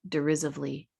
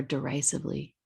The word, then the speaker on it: derisively: Rose giggled and both laughed derisively or derisively. It's pronounced different ways.